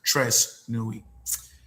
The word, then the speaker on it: Tres Nuit: It is actually pronounced Tres Nuit.